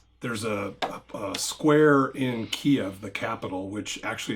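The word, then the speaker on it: Kyiv: yeah was um there's a a square in Kiev the capital which actually it's not Kev it's keev which I should highlight for people Ukrainian pronunciation Ukrainian pronunciation and also it's Ukraine not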